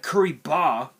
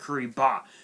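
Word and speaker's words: Kuribah: first so first up we have we have curry ba which is spelled k-u-r-i-b-a-h which is a which is a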